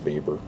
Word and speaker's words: Weber: and yes it's spelled weber but it's actually pronounced vapor these are some of my nerdy pet peeves